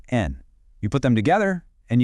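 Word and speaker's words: 円: To make it a price, we simply add the currency counter for yen, pronounced en.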